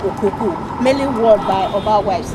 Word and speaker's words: Okuku: Okuku, in the first place, rightly pronounced Okuku, is the general hairdo of the Benin people.